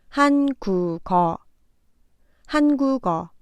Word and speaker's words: 한국어: 두 번째 글자 국에서 받침 기역이 마지막 글자의 이응 자리에 와서 발음됩니다. 한국어. 한국어.